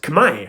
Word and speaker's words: Khmer: well you know that R isn't pronounced at the end of the word so no need to respell it you know it's pronounced kamay but when the French